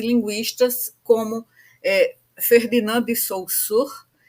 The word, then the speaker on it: Saussure: Então, o Saussure, na verdade, a pronúncia não é exatamente Saussure, mas é que eu me habituei a, a usar essa pronúncia em relação ao nome dele, né?